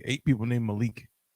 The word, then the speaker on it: Malik: like eight people named malik which of course is arabic for king right even though technically it's pronounced malek that's why malcolm x's